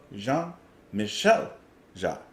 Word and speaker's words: Jean-Michel Jarre: I just like forget how to pronounce things sometimes. So Jean-Michel Jarre.